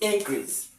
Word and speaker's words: increase: Now as you are looking at it to be a noun you stress the first syllable which is in then the second syllable you don't stress it that means that now